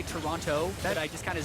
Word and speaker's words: Toronto: I was told actually by a tweet, it's pronounced Toronto with no T. Oh. Yeah. Today I learned. Toronto? Maybe someone else. Jack? You're Canadian. How is it? Canada's is it first Toronto?